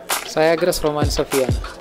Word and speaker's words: Syagrus romanzoffiana: Syagrus romanzoffiana That's how it is pronounced Have you seen this before ?